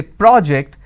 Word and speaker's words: project: So when I say project, that becomes a noun. When I say project, that becomes a verb. So when you're shifting it, and there is a change in terms of the vowel sound as well.